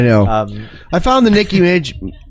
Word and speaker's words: Minaj: I found the Nicki Minaj.